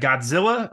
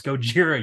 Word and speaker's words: Gojira: do like is that the creature is very much named Gogeta but the Americans Mis mishar that and saying what was that Godzilla all right we'll just call it that and someone's like no it's Gojira you like